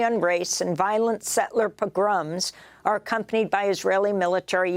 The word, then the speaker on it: pogroms: Not only are these governments refusing to meet their Yes, pogroms is the right way to say it.